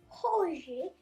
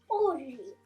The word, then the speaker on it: hoje: So the second word I want to teach you is hoje. Hoje. Normally Brazilian people don't pronounce H, the letter H. So you don't say hoje, you say hoje, hoje.